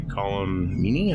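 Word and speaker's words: Colm Meaney: he was played by column meanie I believe that's how you say his name TMG in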